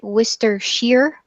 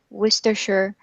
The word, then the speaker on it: Worcestershire: listening to English speakers sometimes they will pronounce it wistar sheer especially in the US so don't be confused by this Wister sure wister sure Mr Shearer because we're not British and we don't know how to pronounce things in the british way okay sorry teacher holly